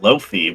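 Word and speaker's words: lo-fi: I think it should be pronounced Loafy because Loi stands for low fidelity and that's or low fit, I guess.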